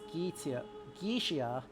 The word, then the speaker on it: Goetia: The Ars Goetia is, or Ars Goetia, to make sure I'm using the correct Latin pronunciation for the time, is 17th century.